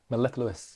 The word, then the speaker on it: mellifluous: Is that, have I pronounced that correctly? Mellifluous. Mellifluous.